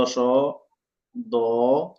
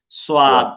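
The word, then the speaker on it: ص: এই যে লিখছি দন্ত স, একা একা, এই যে মানুষ এটাকে সোয়াদ পড়ে, সোয়াদ। নো নো, আকাশ ছাড়া সদ। এটা মোটা হবে, একটু মোটা হবে।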